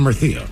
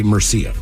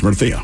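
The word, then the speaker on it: Murcia: how these be pronounced my daughter lives in mertha which I say meria right gotcha but it's mertha right because I did take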